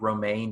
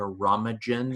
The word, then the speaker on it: Romijn: O'Connell and Rebecca, and her name is definitely not spelled like Romaine. It's spelled Romijn, and I was totally going to name her like Rebecca Romagen or something dumb like that.